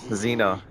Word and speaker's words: Zena: I think I'll pass Zena like the princess warrior Zena that's that's that's his